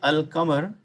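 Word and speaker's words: القمر: Difference is, if you look at Al-Qamar, when I say Al-Qamar, I pronounce the Al.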